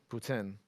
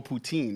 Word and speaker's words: poutine: poutine um hold on you gotta say it right because like my people are gonna be like yo you letting them Putin yeah yeah whoa that was good yeah exactly no poutine that's like some Toronto